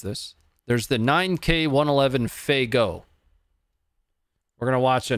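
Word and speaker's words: Fagot: it's it's spelled up it's spelled f-a-g-o-t pronounced faygo if i understand correctly 9k 111.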